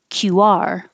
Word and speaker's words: QR: And this one, you put the stress on the second syllable, QR. So make sure you round your lips enough for the war, QR. If you don't, it's a chance that it could sound like 32, cure.